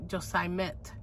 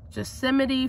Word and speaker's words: Yosemite: the blue Yosemite Falls I used to say just I met can you believe that but I found out the right way to say it and I found it Yosemite Falls and it's a beautiful